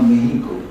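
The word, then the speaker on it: México: সেখানে বিখ্যাত ঔপন্যাসিক আফটার সিনক্লেয়ারের উপন্যাসের ভিত্তিতে একটা ছবি বানান মেক্সিকোতে গিয়ে, তার নাম কে ভিভা মেহিকো, বা আমাদের বাঙালি উচ্চারণে কে ভিভা মেক্সিকো।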